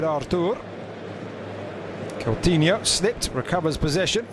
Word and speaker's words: Arthur: to have our daughter rather than the English pronunciation Arthur having heard the Brazilian midfielder interview most certainly does pronounce it after Kelton yuk slipped recovers